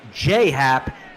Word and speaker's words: Happ: I know all about jhap shout out to shout out to Tara tardis16 who wants it pronounced J Happ as he puts down